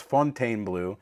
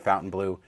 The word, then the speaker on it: Fontainebleau: and they call it Fontainebleau, and that's the name of the hotel. So I know the spelling is weird, or, it's the French spelling, but it is pronounced like English, Fontainebleau, and we are doing it right.